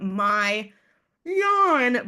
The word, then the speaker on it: Mayan: Half of the letters are the letter A, which makes it confusing on how to pronounce. So my kind of mnemonic is I'm my yawn, but I promise I'm not boring.